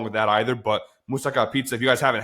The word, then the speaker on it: moussaka: Moussaka, obviously, or moussaka, how it's properly pronounced.